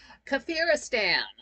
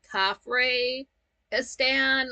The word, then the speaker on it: Kafiristan: to go off to kafiristan and at first they kind of pronounced it weird it kind of sounded like they were saying cafr estan like like the Egyptian pharaoh cafr um but it it's not